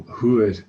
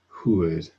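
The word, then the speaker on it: fhuair: In the past tense, however, we have an dŵr, hwyr, cha dŵr. So hwyr is one of the three main exceptions where FH is pronounced with an H sound.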